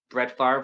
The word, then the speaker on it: Favre: Here we have the 91 Stadium Club Brett Favre rookie card. This card is notable because, of course, they spelled his name wrong. Spelled F-A-R-V-E like it sounds.